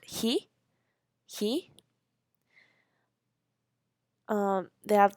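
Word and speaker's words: 火: that exists today Master fire which is called he he um they have like the picture of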